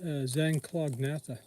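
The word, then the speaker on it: Zanclognatha: the fan foot mods the genus is that Zen clognatha anybody cares that's spelled said z a n c l o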